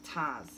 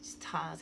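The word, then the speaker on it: Ptah: Oh, Taz, P-T-A-H, Taz, I think that's how you say it.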